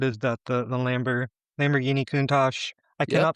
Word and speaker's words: Lamborghini Countach: but Yeah, what is that the the Lambor- Lamborghini Countach? I cannot pronounce it. Maybe you can pronounce the the quarter quarter survival. We'll figure it out. Lamborghini Countach, you said it right.